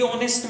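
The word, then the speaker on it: honest: ये जो वर्ड है, शुरू हुआ है H से। बट डियर स्टूडेंट्स, H यहां पे म्यूट है, इज नॉट प्रोनाउंस्ड, इट्स अनप्रोनाउंस्ड, इसका कोई प्रोनाउंसिएशन नहीं है। इसलिए हम जो है साइलेंट है, इसलिए वहां पे जो साउंड आ जा रहा है वोवेल का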